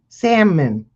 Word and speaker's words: salmon: Salmon. Salmon. Salmon. And you know, in five Ignore minutes that from now, L. I'm going to try to say salmon again. The L is silent.